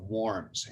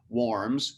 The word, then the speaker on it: Worms: fill in here 1521 the diet of warms and you've heard of this is looks just like diet of worms d-i-e-t w-o-r-m-s and worms was a city in germany that's just where we get the name for this so we have warms and the diet meant